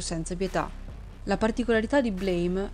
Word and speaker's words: BLAME!: piccola curiosità in realtà il titolo non si legge blame ovvero colpa in inglese ma blam cioè il suono che fa la pistola quando si spara se il video vi